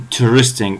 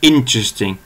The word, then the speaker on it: interesting: أنا اخترت الكلمة هاي بالذات لأنه في خطأ شائع بالنسبة لللفظ، وهو الناس بتنطقها بتحط الضغط على تاني مقطع فبتقول interesting، وهذا غلط كبير. يعني لازم الضغط يكون على أول مقطع فبتقول interesting، تمام؟